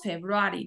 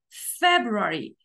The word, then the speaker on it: February: Okay entonces decimos January lo mismo pasa con february no decimos february decimos february March april May june